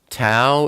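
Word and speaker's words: תו: And then we come to the final oat, Tau. Tau is the number 400, and it's pronounced like a T, like time.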